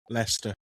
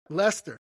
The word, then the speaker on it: Leicester: Leicester, how do you pronounce that? Lester. Lester, thank you. Near Lester, Dane Hills lurks one of England's most chilling